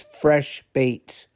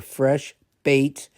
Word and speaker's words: FreshBaitz: But the the if you look this company up, they're Fresh Baits and Baits is spelled B A I T Z and they're soft plastic baits that they make.